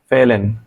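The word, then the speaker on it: fehlen: হবে অনেকটা উজ্জ্ব থাকবে ফেলেন ফেহলেন হবে না কিন্তু ফেলেন অল্প একটু উচ্চারণ হবে যে আমি ব্র্যাকেটের মধ্যে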